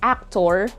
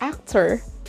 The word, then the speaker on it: actor: schwa in this word you don't say actor it's not actor it's actor actor in the word you